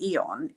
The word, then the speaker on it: Aeon: It's X39 and Eon. Eon is spelled AEON, and that is the inflammation one.